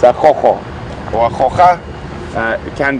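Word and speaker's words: Gogo: It's quite an interesting spelling, because I think if you had to say it how you would think it was said, it would be a go-go. It is spelled G-O-G-O, and obviously with a lot of us having a bit of Afrikaans influence and whatnot, that sound with the G is from the Afrikaans language, so it's a chocho or a chocha.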